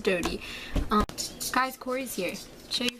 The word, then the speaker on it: Dodie: but recently Dodie Clark, it's Dodie, right? Not Dottie. Oh, I feel like this, it's Dodie. She says Dodie.